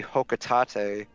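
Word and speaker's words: Hocotate: to say though like fun fact official pronunciation is actually hotate is it hotate oh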